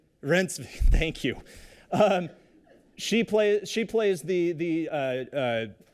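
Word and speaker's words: Reinsve: Please pronounce. Rensve, thank you.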